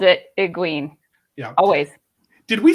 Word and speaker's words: Egwene: So Kitty, what's the actual pronunciation? You got it right. It's Egwene. Yeah. And Great job, too called it Egwene.